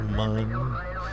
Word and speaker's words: Mun: It's pronounced mun. Yeah, for you Kerbal people it's mun.